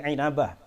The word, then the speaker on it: Inabah: Bacanya jangan ambah tapi Ainabah.